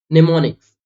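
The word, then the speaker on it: mnemonics: इसका एक्सेप्शन है कि एम के बाद अगर से एन आ जाता है जैसे निमोनिक्स निमोनिक ओके तब हम यहां पर एम को साइलेंट मानते है एक्सेप्शन नेक्स्ट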